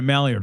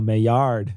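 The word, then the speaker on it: Maillard: in an experiment right you get a mallard reaction oh my yard ah come on it was funny not pronounced mallard though on paper that joke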